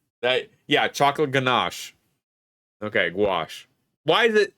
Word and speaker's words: gouache: Gouache. It's pronounced gouache. Well, someone told me ganache.